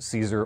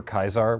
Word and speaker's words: Caesar: who you talk to, whether it's pronounced Caesar or Kaisar. We're just going to go with Caesar, because it's the salad.